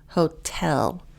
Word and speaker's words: hotel: Especially for my Brazilians, the emphasis is on the second syllable, not the first. Hotel.